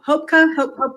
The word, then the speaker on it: Hubkova: Hubkova, how do you say Hubkova?